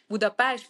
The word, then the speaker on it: Budapest: to American people it's like beast but at home it's Buddha PES but when you are